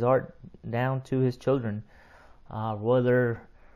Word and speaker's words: Royler: All his children's names start with R's. But you don't pronounce the R. It's more like an H or a silent R.